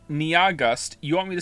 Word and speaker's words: Nyahgust: to spell it, NYAHGUST, has informed me that their name is only 2 syllables long. And I don't understand how that's possible. Nia is clearly 2 syllables on its own. And then after that, you have gust. Niagust. It's pronounced like August.